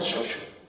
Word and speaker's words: chocho: De hecho, chocho se pronunciaba xoxo, como en muchos lugares de Andalucía.